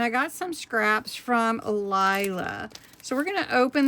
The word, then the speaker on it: Lila: I always thought, well, maybe it's Lila. But I believe she said I was saying it right, and it's Lila.